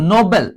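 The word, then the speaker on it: noble: দেখো নোবেল, নোবেল মানে কি জানো?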